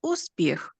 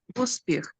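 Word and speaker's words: успіх: We don't even move our lips, uspіх. We don't pronounce like moon, just long vowel moon, uspіх. We do not pronounce Ukrainian word uspіх like in the word moon, just like in the word hook.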